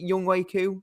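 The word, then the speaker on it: Younghoe Koo: And they've got a fantastic kicker, one of the best in the league in Young Ho Koo. Was it Young Wei Koo? That's it.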